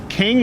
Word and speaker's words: King: a gentleman known as king there we go can we do that all right okay uh what's your name sir my name is King King like like a royalty like a royalty okay